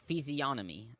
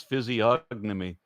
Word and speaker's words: physiognomy: and by the way it's physionomy I uh horribly butchered them that pronunciation sorry you still did it's physiognomy um I I see